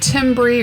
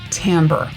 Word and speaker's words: timbre: and i know it looks like the word timbre or timbre but it's pronounced timbre timbre simply means that instruments sound different from